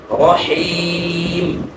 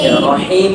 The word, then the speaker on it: رحيم: بسم الله الرحمن الرحيم জেরের সময় মুখটা কি করবেন কতটুকু ছড়াবো জেরের উচ্চারণটা স্পষ্ট হয় যতটুকু ছড়াইলে স্পষ্ট হয় সুন্দর হয় এতটুকু ছড়ানো রহিম আবার বলেন রহিম বলার সময় মুখ ছাপ দিবেন না স্বাভাবিক থাকবে রহিম তারপরে বলেন আলহামদুলিল্লাহি